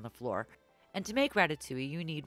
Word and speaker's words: ratatouille: It's not ratatouille, okay? It's ratatouille. You want to grab each ingredient in sets of 99.